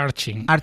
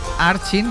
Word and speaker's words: Urchin: Y a partir de mañana pueden ir a ver ¿Arching o Arkin? Creo que se pronuncia Arching. Para que la gente lo entienda, se escribe Urchin, porque no es un término muy Por eso no muy habitual.